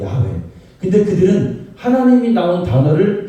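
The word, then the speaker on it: 야훼: 자음으로만 내자 돼 있어요 그걸 우리가 그냥 발음에서 뭐라 하냐면 야외라고 해요 야회 근데 그들은 하나님이 나온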